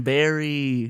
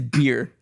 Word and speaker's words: Beer: Madison Barry. You said Barry? I thought it was bear. It's beer. Beer. Like to drink beer.